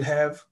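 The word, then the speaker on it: ح: Ha, which is very similar to jim, is a thick letter, and we have to pronounce it from the end of our throat.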